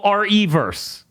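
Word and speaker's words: Re:Verse: it is Resident Evil re colon verse verse yeah so it's Resident Evil reverse okay so technically all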